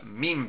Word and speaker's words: MIME: applications you need to know the meme type I believe that's how you say it it's not meme like you know the images that you see on lines mean it's it's it's